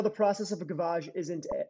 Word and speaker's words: gavage: the process of a gavage isn't, am I pronouncing that right? Gavage? Yes. Okay. Yep. Gavage is a French word for hen feeding or.